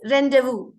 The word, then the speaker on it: rendezvous: 4 lesson one rendezvous with ray it is rendezvous it is not renderers but still we just go on with rendezvous sometimes so the actual pronunciation is rendezvous okay so rendezvous with ray is a news